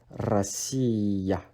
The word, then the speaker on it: Россия: And again, Russia in Russian is Россия. Россия. So ya is placed at the end of the word and is pronounced as ya as well.